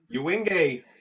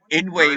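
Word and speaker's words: Yngwie: Ewing fucking Malmsteen. Actually, that's how you're supposed to say his name. Ingwe Malmsteen.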